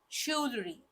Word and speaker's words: jewelry: see the next word jewelry most most commonly mispronounced word so it is supposed to be jewelry shry let's see the next word cupboard no